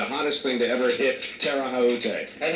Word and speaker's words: Terre Haute: It's not anywhere close to the original French pronunciation. What did I say? That's That's Terre Haute. Terre Haute. Terre Haute. I said it Tom Brokaw. Okay. It's a very strange pronunciation for that kind of spelling, but believe me, in